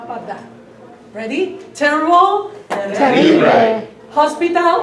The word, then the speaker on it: hospital: Hospital. Hospital. Don't pronounce the H.